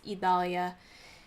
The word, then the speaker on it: Idalia: to look it up it is Evalia beautiful name how unfortunate